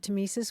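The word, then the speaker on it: tmesis: want to talk about the word tesis we should spell it because it's an oddly spelled word it's TM s i s and it goes back to a Greek word that means cutting tesis goes back to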